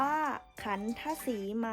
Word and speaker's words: ขัณฑสีมา: เลย นะ คะ เช่น คำ ว่า ขัณฑสีมา อ่าน ว่า ขัณฑสีมา หมาย ถึง เขต แดน